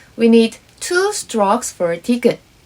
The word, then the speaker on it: 디귿: 으 as a final consonant for the second syllable, it becomes its name. 디귿 must have been its name.